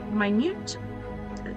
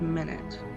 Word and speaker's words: minute: other than the minutes minute it's spelled minute maybe I should just say it that way but I think it's minute the minute Speck of